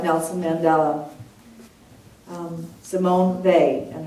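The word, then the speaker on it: Weil: Nelson Mandela um Simone they and her last name is spelled we i l but it said they European way um so we're going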